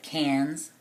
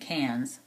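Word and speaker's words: Cairns: from there to uh cans it's spelled c a i r NS but they they pronounce it cans kind of like the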